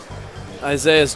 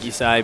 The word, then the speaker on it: Isai: good at that matchup I was trying to say it like isai before I think that's how he says it's actually pronounced but everyone calls him Isaiah so I'm just going